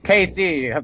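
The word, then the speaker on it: Cayce: same person but okay there you go it's Casey one of my heroes okay be sure you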